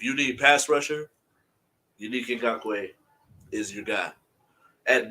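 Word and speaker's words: Ngakoue: Ngakwe, edge rusher, Perfect.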